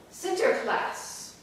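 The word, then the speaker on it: Sinterklaas: I pronounce this correctly Center class which is Dutch for St Nicholas and Center class is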